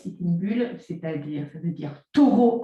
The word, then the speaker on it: Sitting Bull: Donc là, je prononce à la française, Sitting Bull, c'est-à-dire, ça veut dire taureau assis.